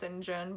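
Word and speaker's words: St. John: out of me also it blows my mind that a name spelled saint john is pronounced sinjin but whatever so she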